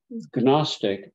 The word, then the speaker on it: Gnostic: the noun form uh canostic or in English we say Gnostic right there's no silent G they ridicule Christians saying